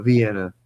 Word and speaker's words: Vienna: pronunciation is vi- the I is supposed to sound like an E. You know, Vienna, you know.